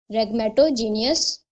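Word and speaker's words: rhegmatogenous: आर एच ई एच इसमें silent होगा। ठीक है? आर एच ई जी एम ए टी ओ रेगमेटो जी ई एन ओ यू एस रेगमेटोजीनियस retinal डिटचमेंट।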